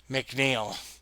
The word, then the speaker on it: McNiel: I had to correct them and say McNeel.